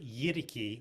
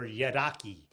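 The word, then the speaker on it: yidaki: that's accepted pretty much broadly is the word yidiki or yadaki and that's spelled y-i-d-a-k-i yaraki and in some areas yaraki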